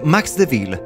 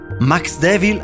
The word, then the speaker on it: Maxdevil: alla creatura al telefono Max mi suggerì Max Dev ville pronunciato alla francese non mi soddisfaceva la pronuncia lo lasciava sospeso a mezz'aria troppo evanescente Max Devil all'inglese A me sembrava molto